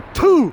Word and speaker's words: Ptuj: Ho azzardato questo parcheggio selvaggio perché siamo a PTUJ, probabilmente la pronuncia corretta è PU.